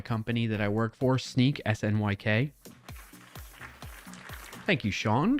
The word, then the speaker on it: Snyk: So, shout out to my company that I work for, Sneak. It's not pronounced Snick. It's Sneak, SNYK.